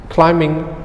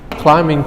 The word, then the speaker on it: climbing: We do not pronounce bing, okay? So we pronounce climbing trees, okay? So be careful with the pronunciation. Climbing trees, okay?